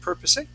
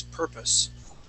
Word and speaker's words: purpose: Okay, you had pronounced the word purposing. Okay, adding an A sound for that E. Remember, that E is going to be silent. The word is purpose.